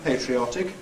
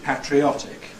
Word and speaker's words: patriotic: is interesting because it's what is still a minority pronunciation patriotic thought of as American again uh as against the traditional British patriotic that but uh although